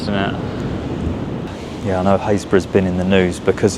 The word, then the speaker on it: Happisburgh: this time I am pronouncing the name of Happisburgh correctly. I know how annoying it can be when people mispronounce the name of somewhere. But yeah, it's not Happisburgh. As many times as you say it, it's Happisburgh.